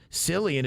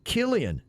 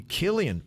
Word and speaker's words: Cillian: names are easily mispronounced silly and is actually pronounced Killian it's not a big